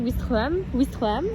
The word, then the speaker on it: Ouistreham: mais J'ai la bien prononcé mignonnance, oui, Ouistreham. Prononcé.